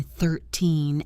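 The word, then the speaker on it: thirteen: At the B1B2 level, you should be comfortable distinguishing between 13 and 30. This is a classic problem. 13 has the stress on the second syllable. 13 30 has the stress on the first syllable. 30.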